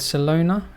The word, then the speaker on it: Celona: for a company called salona is that right correct yep barcelona i'm trying to really try to make sure i get my pronunciations right yeah think of it just like uh the city barcelona ah okay that makes